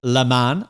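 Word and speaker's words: Le Masne: He said, "The composer whose name we pronounce as Lan like a man."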